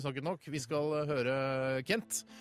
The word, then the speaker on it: Kent: Vi skal høre Kent, eller Kang, som du uttaler. Så det egentlig uttales.